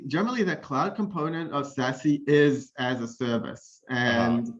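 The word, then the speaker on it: SASE: know that uh the secure access service edge is pronounced as sassy which i think is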